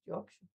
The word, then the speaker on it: Yorkshire: that which they call Yorkshire, but I think the the the the type the brand the phrase is written Yorkshshire but nobody says Yorkshshire Yorkshire just Yorkshire.